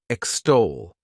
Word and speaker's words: extol: The next verb is extol. To extol, this word has 2 syllables, and the stress is on that second syllable.